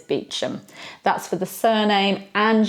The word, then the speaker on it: Beauchamp: got is Beauchamp now you think that this would be pronounced the French way you know bow meaning beautiful good and then sharp which is filled so Beauchamp surely it's Beauchamp well no it's Beecham that's for the surname